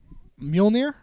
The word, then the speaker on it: Mjolnir: Mjolnir?